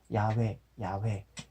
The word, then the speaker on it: 야훼: 읽어야 되겠는데 예, 그래도 가장 근접한 발음이라고 추정되는 야훼 그 전통적으로 그 유대교라고 그러나요? 그쪽에서도 발음이 늘 되어 왔었던 그것을 생각하면서 그래서 야훼라고 제가 그렇게 발음을 하면서 읽고 있었던 것입니다.